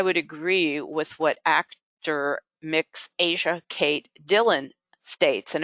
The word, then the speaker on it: Mx: It's pronounced mix. It is MX, and it is in the Oxford English Dictionary.